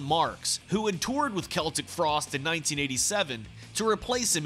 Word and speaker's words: Celtic Frost: And if the negative reception to Cold Lake wasn't bad enough, people still didn't know how to pronounce the band's name. Finally, I found out it is Celtic Frost.